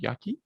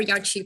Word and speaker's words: Yaki: Yaki? Yaki or Yachi, both are fine.